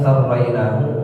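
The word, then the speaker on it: سرّينا: Qauluhu perkataannya sarrainahu huwa bisain mutsallatsatin tsumma ra'in musyaddadatin. Tsumma ya'in mutsannatin min tahtin tsumma nunin. Bacanya sarraina.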